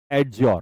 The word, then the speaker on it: adjure: अगला शब्द है एडज्यूर (अधिजय)। वह त्याग था। यह एक शपथ है। यहां 'd' साइलेंट है।